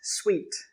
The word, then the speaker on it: suite: This word is pronounced suite.